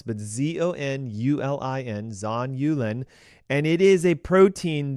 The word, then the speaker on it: zonulin: called zonulin and it's a little tough to pronounce but z-o-n-u-l-i-n zon yulin and it is a protein that when in